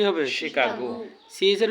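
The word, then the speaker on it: Chicago: এটা কি শিকাগো নাকি শিকাগো শিকাগো এটা হবে শিকাগো উচ্চারণটা কি হবে শিকাগো সিজ এর উচ্চারণ কখনো সি ছ হয় কখনো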